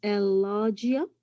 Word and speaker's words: elijah: am your professor my last name is elijah that's how you pronounce it so i'm your professor